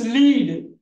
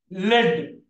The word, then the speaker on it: lead: look at that this lead lead San do you agree lead lead but same spelling and different pronunciation it is called homograph write it down please